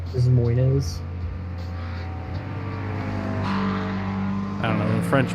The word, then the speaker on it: Des Moines: Because it's spelled Des Moines, but it's Des Moines. it. Des Moines.